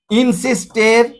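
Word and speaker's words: insisted: পাংচুয়ালিটির পর ইজ বসে হ্যা তাহলে পাংচুয়ালিটি ইজ ইনসিস্টেড ইনসিস্টেড বা টেড টেড বলি আমরা শুদ্ধ উচ্চারণ হল টিড ওয়ান টি পাচুয়ালিটি ইজ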